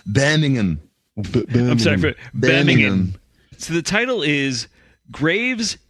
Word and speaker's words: Birmingham: story for birmingham england oh oh that's pronounced banning him so the title is